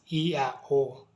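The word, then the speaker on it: Ἰαώ: What this means, ladies and gentlemen, is that the word which is spelled using Greek letters as iota, alpha, omega is pronounced exactly the same way as the ancient Israelites pronounced the Tetragrammaton.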